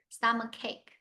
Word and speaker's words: stomach ache: So here pronounce K-A-K, cake. Stomach ache.